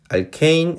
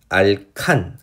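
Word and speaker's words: alkane: 번역상의 차이로 이제 실제 발음은 알케인, 알킨, 알카인 이런 식으로 나왔지만 예전에 이제 번역할 때는 대한어학에서 번역을 할 때는 알칸, 알켄, 알킨 이렇게 번역을 해서 둘 다 제가 혼용을 하고 있어요.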